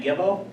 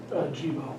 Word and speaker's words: Jibo: David and Joel, how do you say your last name? Gibbo? Jibo. Jibo.